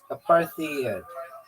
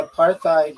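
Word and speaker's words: apartheid: So why am I saying it like parad? Because it's spelled that way. Aparthid. That's exactly how it's spelled.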